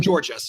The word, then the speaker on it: Georgist: How do you pronounce it? Georgist.